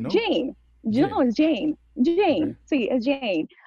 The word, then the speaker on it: Jane: Y me recuerdo que siempre me decía, y ahora con ustedes, Jean, o sea, mi nombre creo que lo pronunció, pero creo que eso era parte de su ¿Cómo se forma.